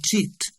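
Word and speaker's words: CIT: Tony's mother works in the Italian tourist agency called Cheat, which, when pronounced, sounds like shit.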